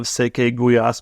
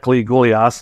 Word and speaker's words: Székely gulyás: this dish because I had never heard of SE guas before and in fact pronounced it cly gas until I learned better but the name popped